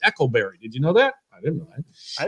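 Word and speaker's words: Eikleberry: like ryan eckleberry i used to call him eichelberry but i met him and he said now it's pronounced echolberry did you know that i didn't know that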